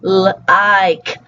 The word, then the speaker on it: like: It's like, and they drop that k sound, and they basically do what we call a glottal stop, when you stop the sound in your throat.